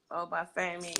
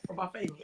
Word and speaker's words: Obafemi: Obafemi, yes. Obafemi.